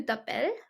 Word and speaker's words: t'appelles: be like, Comment tu t'appelles? So we never pronounce the S over here. We do pronounce the S in some words, but over here we do not.